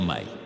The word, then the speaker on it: me: Las tablillas mencionan específicamente los me pronunciado May.